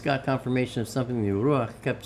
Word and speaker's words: Ruach: C-H to me is the way you tell people that's the pronunciation of. It's not Ruach, because without the C there, it just says Ruach.